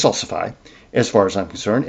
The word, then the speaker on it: salsify: In fact, it's a um a relative of salsifi or that's the way I pronounce it. I've heard people say salsy. It's salsifi as far as I'm concerned.